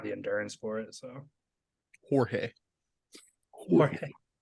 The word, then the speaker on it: Jorge: He doesn't have the endurance for it, so Jorge, Jorge. Jorge. spelled like George with a J.